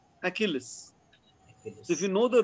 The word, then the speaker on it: Achilles: So for example, Achilles, the letter CH in Greek are pronounced as a K, Achilles.